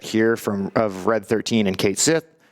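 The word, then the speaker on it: Cait Sith: of Red 13 and Kate Sith, or Cat She, if you insist on the pronunciation with that one.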